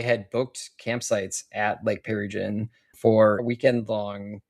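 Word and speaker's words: Pearrygin: It sounds like a cocktail. You're like, "Oh, I'll have a pear gin.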